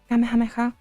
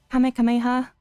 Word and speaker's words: Kamehameha: Like the Spanish version is like just like Kamehameha, which is like the same as in Japanese, I think. English is like Kamehameha, which is fine as well.